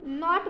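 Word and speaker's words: knot: वो बात तो kno3 नोट हम के बोलते नहीं नोट बोलते हैं बस के साइलेंट है उसके बाद के एन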